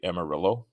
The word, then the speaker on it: Amarillo: School yeah El Paso Amarillo or Amaro I think I'm not I don't speak Spanish but I think it's pronounced Amaro but I I think Americans say Amarillo um is pretty cool